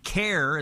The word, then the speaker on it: CAIR: CAIR is how people pronounce it, C-A-I-R.